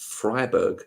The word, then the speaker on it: Freiburg: It's pronounced Freiburg, is it?